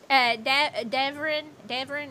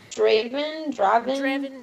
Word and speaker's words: Draven: Devrin, is that how you pronounce it? Draven, yeah, okay.